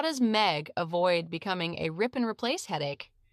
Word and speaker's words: Megh: Pronounced Megh, it's the Hindi word for cloud.